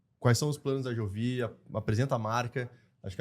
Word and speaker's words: Jovi: E é Jovi. Em inglês normalmente a gente fala Jovi por causa da pronúncia do J, mas como a gente